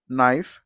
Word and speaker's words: knife: So no, knife, k silent Kite is the answer.